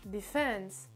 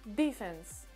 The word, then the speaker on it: defense: Donc là, l'accentuation, surtout pour cette catégorie-là, se fera sur la deuxième syllabe, donc defense. Defense. Sinon, en anglais américain, on peut aussi retrouver la prononciation avec l'accentuation sur le D, donc defense.